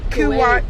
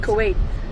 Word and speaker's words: Kuwait: Germany, Iceland, Jamaica, Japan, Kuwat, Kuwait, Kuwait.